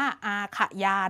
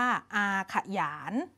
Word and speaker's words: อาขยาน: บท อาขยาน นะ คะ คำ นี้ นะ คะ เด็ก ๆ อ่าน ออก เสียง ว่า บท อา ค่ะ หยาน อ่าน ออก เสียง เป็น อักษร นำ นะ คะ เด็ก ๆ ไม่ อ่าน ว่า อาขยาน นะ คะ อ่าน ว่า อาขยาน นะ คะ บท อาขยาน คือ อะไร บท